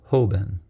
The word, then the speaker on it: Hoben: In Japanese, the Chinese characters chosen to translate it are pronounced Hoben.